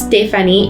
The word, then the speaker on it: Stéphanie: My name is Stéphanie. It's pronounced with the S-T accent aigu, just like in French.